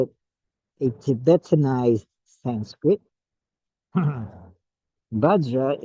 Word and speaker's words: vajra: a Tibetan ised sent badra is pronounced benza or benra there a little bit of R after the Z benra benra in tibetan